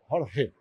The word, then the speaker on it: Jorge: Eu sou o Gumar Carvalho e estou aqui com Jorge. Pronunciei certo?